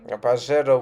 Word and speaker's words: Pajero: Pajero was good in our country because it was accepted and acknowledged in the English form of reading this word, because in Spanish J in the middle pronounces as ha, and these cars would